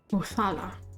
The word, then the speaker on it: Othala: I forget how you pronounce that, though. Oh, that's it. Othala.